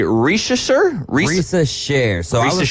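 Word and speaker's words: Risacher: Sila mispronounced it is Risa Sher rysa share that makes sense it's got the French inflection there so share on the end of that obviously he was kind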